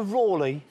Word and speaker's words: Raleigh: Did you call him Walter Raleigh? Yes, I've always known him to be pronounced by that way. No, it's Raleigh, Walter Raleigh.